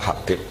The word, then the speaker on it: Habib: Itu di harokatnya kitab, itu ada yang nulis Hubab. Yang benar, oh enggak, yang benar itu bacanya Habib.